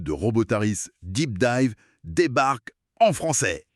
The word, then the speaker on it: Robōtariis: Des bails scientifiques, des fondations techno qui tiennent debout le monde un peu chelou des robotaris. Robotaris. Ouais, faut bien prononcer.